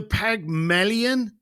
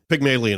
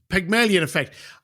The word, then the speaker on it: Pygmalion: saying something wrong uh the pagmilion effect have you heard of that right now Sean am I am I saying it wrong yeah Pygmalion effect Pygmalion effect I read people send